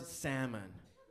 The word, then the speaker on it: salmon: don't mention them like the word salmon I hate that word why is there an L in there I just have to pretend that it's not there no but I see the L uck oh it's silent then get it out of there it's not making that noise give it to lollipop